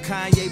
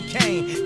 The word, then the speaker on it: Kanye: Now all I need is y'all to pronounce my name as Kanye, but some of my plastics still say Kane.